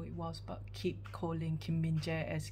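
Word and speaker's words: Kim Min-jae: is e um so for Kim minje it's not Kim binjai it's Kim minje um and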